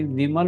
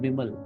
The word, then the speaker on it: बिमल: जैसे एग्जांपल आ रहा है मेरे माइंड में, हिंदी विमल बोलते हैं, बट बांग्ला में इसको बिमल बोलते हैं, बिमल.